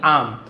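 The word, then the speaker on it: alms: आम कहा जाता है, एल साइलेंट होता है, आर्म्स नहीं बोलेंगे, आम, इन द विलेज, और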